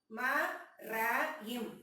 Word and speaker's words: மரம்: நம்ம வந்து எக்ஸாம்பிள் பாக்கலாம் ம ர ம் மரம் நான் எப்படி உச்சரிக்க மரம்னு சொல்றேன் அதே இங்க பார்த்தீங்கன்னா ம ர